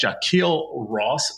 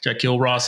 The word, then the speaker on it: Jahquille Ross: Today we have a very special guest, Jaquil Ross. Sir, am I pronouncing your name the right way? You are. You actually got it right. All right. Jacquil Ross is with us.